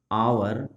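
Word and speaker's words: hour: पर आवर है और आवर का प्रोनाउंसिएशन आवर इस तरह से होता है हिंदी प्रोनाउंसिएशन में, है ना।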